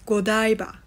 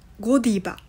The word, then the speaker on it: Godiva: how pronounced kodaiba in Japanese in English it's godaiba but in Japanese it's Godiva Godiva there are different pronunciation